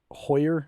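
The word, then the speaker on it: Heuer: it's a tag uh I think you say it Hoyer is how it's pronounced I don't know dude tag Herer how Hoyer whatever Aqua racer so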